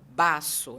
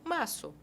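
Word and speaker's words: vaso: do espanhol né é o v em espanhol ele tem um som de B mas não é um B forte eu não vou falar Basso eu falo Basso é suave E aí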